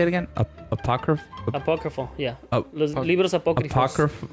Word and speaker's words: apócrifo: Apócrifo, yeah. Ap- Los libros apócrifos. Apocrypho? Apócrifo. I think it's apocryphus. or something. Apocryphy?